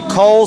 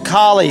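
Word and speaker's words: Colle: talk about Edgar colie some people pronounce it the coal system some people pronounce it the collie system it was a chess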